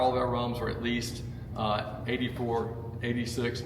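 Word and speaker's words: rhum: So they instantly put it in fermentation, and when they make it that way, it's spelled rum, because the H is silent in French, agricole.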